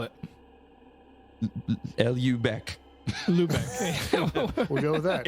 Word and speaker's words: Lübeck: L-U-Beck. Lubeck. We'll go with that. It's L-U-B-E-C-K, but it's got that little, what's a... Umlaut. Yeah, umlaut. Yeah, so it means Umlaut. they use a long U.